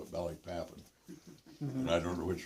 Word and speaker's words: Balikpapan: And they had this huge refinery in Balikpapan, Borneo, which was the source of most of the gas for the Japanese armed forces.